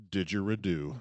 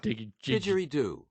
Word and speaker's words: didgeridoo: to find the thing this isn't pronounced did you redo didgeridoo there we go he nailed that with